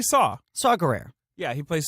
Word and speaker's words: Saw: Playing Saw Gerrera, but they don't pronounce it Saw. Don't they say like C. Gerrera or something? No, Saw. I kept on thinking the way they pronounced it was weird. They just say Saw.